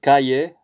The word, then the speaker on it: calle: In Spanish, double L sounds similar to Y in the English word yes, though you may hear some Spanish speakers pronounce double L as in vision or shop or jar. So calle, llamo. So double L sounds like a Y, just like in yes in English.